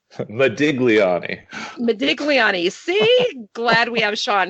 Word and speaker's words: Modigliani: By Amadeo Mariani. Modigliani.